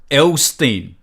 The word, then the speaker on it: Elsztain: The shareholder, one of the main shareholders, and the chairman of Elron is Eduardo Elstein. Eduardo, that is spelled Eduardo Elsztain.